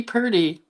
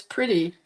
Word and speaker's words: Pretty: Oh, Vicky Purdy, who I kept saying Purdy, but it's Pretty. Her last name is Pretty, not Purdy. I kept saying it wrong.